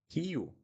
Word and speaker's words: Rio: But Rio, we don't call it Rio. We call it Rio, Rio. And two things here on this word, the sound of the R, and when we have two vowels, we need to pronounce each one.